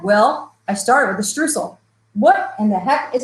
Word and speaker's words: Streusel: Well, I started with a streusel.